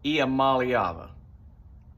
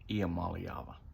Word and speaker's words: Iamaleava: And that is Nico Iamaleava. I think that's how you say it. Iamaleava. 6-syllable name.